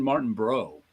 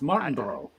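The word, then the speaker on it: Martinbrough: it's sean martin bro i always say bro i too but i i just looked at it the way it was spelled i'm like oh i'm putting an extra syllable in it it's martin bro i gotta ask i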